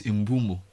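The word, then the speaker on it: Mbeumo: I'm making a 50 million pound bid for the He says his name is Imbumo. Imbumo. You know there's this video of football pronouncing their names.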